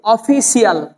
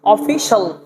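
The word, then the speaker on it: official: আই সি আই এল অফিশিয়াল অফিশিয়াল নট অফিসাল অফিস সাল ঠিক আছে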